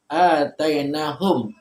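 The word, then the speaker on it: آتَيْنَاهُمْ: Alladzina, orang-orang yang atainahumu, kami telah berikan mereka. Kalau dibaca perkata atainahum, maunya jangan dihidupin Bu. Kecuali kalau Ibu lanjut atainahumul kitabu. Kalau arti perkata dibacanya begini, atainahum.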